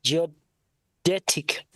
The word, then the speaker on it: geodetic: So cvature correction in surveying is a primary consideration for geodic am I pronouncing this word correctly geodetic there you go good job yeah